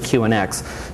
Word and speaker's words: QNX: So they asked to change the name, so we changed it to QNX, which still sounded like Q Unix because we always pronounced it QNX.